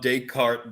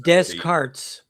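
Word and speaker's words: Descartes: So where did where did young stand on daycart then in the idea that the penal gland is like the seat of the soul or that there was it's pronounced descarts.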